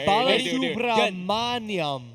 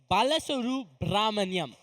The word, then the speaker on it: Balasubramaniam: Can you pronounce the Wait, last wait, name? wait! I got you. Balasubramaniam. No, it's Balasuru Brahmanyam.